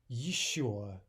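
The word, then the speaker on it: ещё: Еще, еще.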